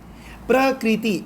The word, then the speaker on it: Prakriti: Prakriti. En Prakriti hebben 3 lettergrepen. Ja, natuur heet Prakriti. En Prakriti heeft 3 lettergrepen.